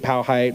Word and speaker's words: Powhite: is the Powhite Parkway, however you want to pronounce it. I grew up here, so I'll call it Powhite.